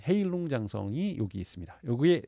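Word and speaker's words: 헤이룽장성: 그리고 흑룡강성이라고 하는 그 중국식 발음으로 헤일룽장성이 여기 있습니다.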